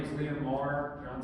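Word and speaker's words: Meagher: pronounced Mar.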